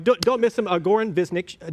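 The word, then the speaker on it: Goran Višnjić: Goran Visnjic. Goran Visnjic. It's a little crazy pronunciation with the end. Visnjic.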